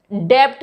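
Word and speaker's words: debt: Next देखिए, डेप्ट कहते हैं लोग इसे, डेप्ट, डेप्ट नहीं होता, इट्स डेप्ट, क्योंकि बी साइलेंट है। बस अपने माइंड में आप ये ध्यान में रख लीजिए कि टी से पहले अगर बी आगे, कॉम्बिनेशन को याद कर लीजिए, तो वहां पे बी साइलेंट होगा।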